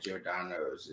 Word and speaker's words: Giordano's: Giordano, I'm not pronouncing that right. Giordano's? Yeah, Giordano's.